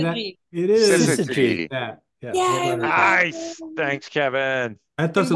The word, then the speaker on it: syzygy: Syzygy.